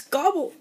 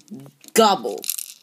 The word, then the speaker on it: Gobbol: So that's Cobrax and Gobbol. And pronouncing his name kind of sounds like a turkey saying his name.